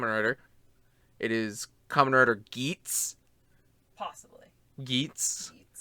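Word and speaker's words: Geats: rider geets possibly geets i hope it's not pronounced gates because we already have a gates technically and somebody's like actually eats gays and it's like um that's how it's spelled but it definitely sounds like it's saying gates so shut up i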